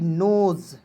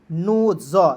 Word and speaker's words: NOSE: NOSE नोज, ठीक है। नोज, देखिए यहाँ पे भी आपको ज के रूप में प्रयोग करें, यानी कि याद रखना कि अंतिम में SE आएगा तो उसका उच्चारण ज के रूप में करना है, क्लियर, इतना समझ लीजिए।